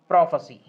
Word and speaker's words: prophecy: इसका प्रोनाउंसिएशन क्या होगा? प्रोफेसी, प्रोफेसी। क्लियर?